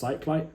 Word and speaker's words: Cyclite: And then there's also one which I might check out from a brand called, I think it's pronounced Cyclite, CYC Lite, LITE.